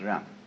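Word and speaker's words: 仁: I don't know what they are but it's pronounced R and it's a character Chinese character that confucious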